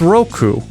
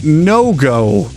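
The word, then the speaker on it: 六: 5 is said correctly as go, but then Wycliffe utterly blunders 6, which is pronounced roku, by saying no-go, which, as far as I can tell, is not even a word.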